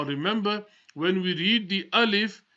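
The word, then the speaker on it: ألف: when we read the alif we don't stretch it we don't say Alief or we don't say I love we say alif Olive a leaf the next letter ba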